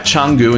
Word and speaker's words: Canggu: in changu let me explain if you type changu into Google Maps which by the way I'm trying to use the correct pronunciation this time you can see a boundary